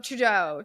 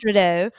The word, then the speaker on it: Trudeau: Trudeau. It's French. Trudeau.